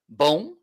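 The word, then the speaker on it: bom: question a survival mic we don't finish our words with n okay if it's to sound like that it's with m okay uh this okay in spanish it's different but it's b o m which means good boom means good let's say it again say we say we it's it's a little bit more boom boom yes you're getting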